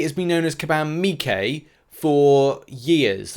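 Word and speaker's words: Miike: command me k has been known as kabam mikay for years like what four five years he's not called command mike um he's mikay it's it's m-i-i-k-e i know a lot of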